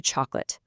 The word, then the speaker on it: chocolate: literally collapses to literally and chocolate shrinks down to chocolate.